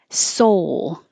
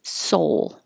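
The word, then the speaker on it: Seoul: like this see-saw teeter-totter soul americans pronounce the city of south korea as soul same as soul and soul it's all soul hall the vowel is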